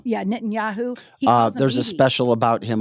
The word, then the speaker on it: Netanyahu: the how how do you say his name nittan yahu oh n Netanyahu yeah nitan yahu there's a special about him on Fox Nation